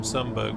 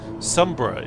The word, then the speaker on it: Sumburgh: You can see how far away from Sunberg we are. Sombra is how you pronounce it. Don't copy the the AI, Rob.